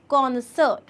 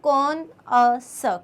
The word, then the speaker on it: connoisseur: ऐसा जो है बहुत बड़ी सी स्पेलिंग इसकी लग रही है, लेकिन इसका जब आप प्रोनाउंसिएशन देखोगे तो इससे हो जाएगा कॉनसर, कॉनसर, कॉनसर। ठीक है, कौन है सर वाली थोड़ी सी आवाज़ आएगी, कॉनसर, कॉनसर।